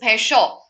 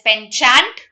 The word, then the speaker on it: penchant: The last word of this slide, I'm still left with one more slide, is penshaw. This is not pronounced as penchant. This is penshaw.